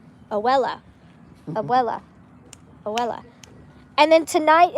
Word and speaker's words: abuela: It's his abuela. My abuela, my grandma. I know it has a B in it, but when you pronounce it with the accent, I don't think you hear the B. Abuela.